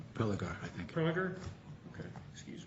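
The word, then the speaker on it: Prelogar: Is it Prelager? Prelager, I think.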